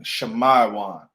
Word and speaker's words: Simeon: Simeon. Shemaiwan. Shemaiwan in the ancient Hebrew.